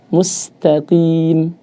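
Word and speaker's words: مستقيم: Maka menyebut huruf qaf kasrah langsung disenyumkan. Mustaqim. Mustaqim.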